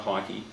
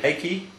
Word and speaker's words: Heikki: Renault, Giancarlo Fisichella and Heikki, and it is Heikki, pronounced Heikki, not Heikki.